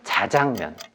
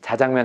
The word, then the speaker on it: 자장면: 잠 공항으로 되지 않잖아요 짬뽕은 짬뽕 인데 자장면은 발음은 짜장 인데 항상 자장 으로 쓰세요 그래서 현실과 맞지 않아서